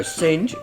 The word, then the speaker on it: Senj: So Senj, that's spelled S-E-N-J with the silent J, is a historic walled town and is the largest town between Zadar and Rijeka.